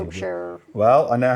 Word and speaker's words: Wiltshire: See, I know how to say Wiltshire.